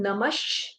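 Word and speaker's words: नमः: So there will be, because there is a visarga after Makara and then there is a Shakara. So when we will pronounce, it will be Om Namash and then Shivaya.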